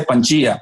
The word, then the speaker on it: Pangea: internet que se llama pangea o como se dice panchía pero se escribe con g perfecto ya sabes y